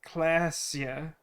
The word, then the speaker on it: Claasje: And the woman we met early on, Claasje, is pronounced Klasja.